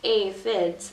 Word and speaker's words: aphids: It was a pretty sad day when the aphids, pronounced aphids, arrived.